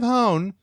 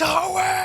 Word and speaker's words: Hoenn: The design of Hone was based on the Japanese island and region Kyushu. However, Hone is rotated. Is it Hoenn? Hoenn. Hoenn. I'm saying it wrong. Someone's screaming into their iPod. It's Hoenn!